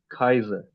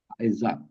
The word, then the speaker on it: Kaiser: Kaiser. काइजा Kaiser. Because you said that are would be silent, तो मैं उस लिहाज से बस बिल्कुल.